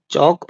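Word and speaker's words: chalk: टॉक चौक और कॉफ इन सब में भी एल साइलेंट है।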